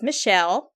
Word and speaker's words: Michel: His name is Michel. It's Michel, but it's Michael. Like Michael, I guess. But yeah, Michael. But it is pronounced Michel Savage.